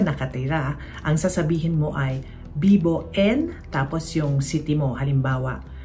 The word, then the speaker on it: vivo: Ang paalala naman dito, ang letter V ay pino-pronounce bilang B sa Espanyol. So kahit ang spelling nito ay V o, ang pagsabi nito ay Bibo hindi vivo.